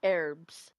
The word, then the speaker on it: herbs: Which one also really me is like when Americans say herbs. Herbs. Herbs. Herbs. Where did the H go?